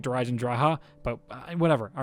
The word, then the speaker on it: Der Eisendrache: otherwise by the way I will continue to pronounce that wrong I know it's supposed to be like der eisendracha but whatever all right